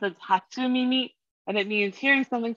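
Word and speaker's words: 初耳: googled it while you're doing that and it's pronounced as hatsumimi and it means hearing something for the first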